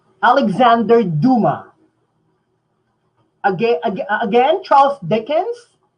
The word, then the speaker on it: Dumas: Okay, Nino Vincent said Alexander Duma. He's French, so we don't pronounce his family name Dumas. It's Duma. Silent S.